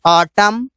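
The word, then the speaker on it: autumn: गया silent letter N जब किसी शब्द के अंत में एम एन रहे तो एन को नहीं बोला जाता इसे इसे बोलते हैं ऑटम कॉलम कॉलमन नहीं बोलते ऑटम नहीं बोलते इस वजह से यहां पर एम के बाद आने वाला एन साइलेंट रहता है साइलेंट लेटर पी जब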